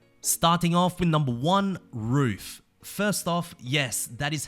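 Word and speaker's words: RUF: skeptical as to why it's not pronounced like a small dog barking but for those who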